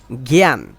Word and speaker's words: জ্ঞান: মত উচ্চারণ করা হয় যেমন এটা জ্ঞান ঠিক আছে জ্ঞান এ গান না এ আকে আ বলতেছি না এটা গান বলতেছি না জ্ঞান এ বলতেছি এটা